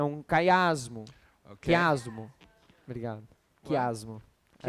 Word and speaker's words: quiasmo: É um quiasmo. Okay? Quiasmo. Obrigado. Quiasmo. I Chiasmo?